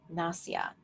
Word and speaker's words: nasya: s a whi a nasya I believe something close to that na sya or na sa aya and so this is